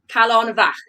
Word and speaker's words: Callenbach: Callenbach. Now, it's the second part of that word, of that naming that I spelled. Calonvach. Yeah, single F is pronounced as a V.